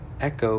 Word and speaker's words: Ecko: Echo is the baby leaf gecko Pokemon. The name is pronounced Echo, but it's spelled E-C-K-O, so it's just like pronounced like the normal word echo, but it's spelled differently.